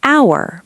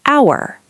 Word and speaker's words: hour: An hour because H is silent, so it sounds like hour.